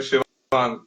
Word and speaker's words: शिवांग: शिवांग सर, शिवांग।